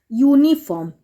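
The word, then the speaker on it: uniform: तो अब the bought यूनिफॉर्म य मैंने क्या बोला था कि इसका उच्चारण करोगे तो य से आ रहा है य किसमें आता है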